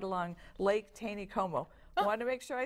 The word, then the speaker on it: Taneycomo: Just gorgeous, right along Lake Taneycomo.